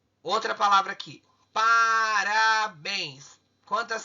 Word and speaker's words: parabéns: Então, olha aqui, parabéns. Por que acentuou? Porque a sílaba tônica. Bens é a sílaba tônica e ela está na última sílaba da palavra.